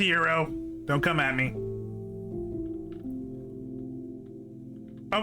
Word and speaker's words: gyro: Gyro. I know it's pronounced euro.